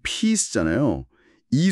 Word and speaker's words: peace: 발음을 좀 자세히 보면 피스는 피스잖아요.이 소리가 길게 나는 장모음 i가 있어요. 피스 길게.